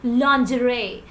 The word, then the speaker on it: lingerie: also pronounce it as lingerie no the correct pronunciation of this word is lingerie the correct you must be surprised to hear